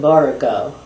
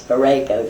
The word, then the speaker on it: Borrego: I called it Borrego, and they told me you don't pronounce it that way. It's Borrego.